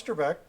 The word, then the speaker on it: Trebek: Alex Trebek I was correct so it's Alex Trebek and so he's been doing it for a